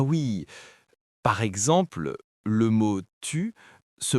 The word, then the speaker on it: tu: Par exemple, les Québécois ont tendance à prononcer les T et les D devant les voyelles I et U de manière différente.